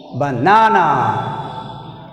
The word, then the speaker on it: banana: In banana word, we stressed second syllable.